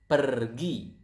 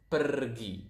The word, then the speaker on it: pergi: Go is pergi. So as you can see here, we pronounce the R quite clearly. So it is kind of like Spanish.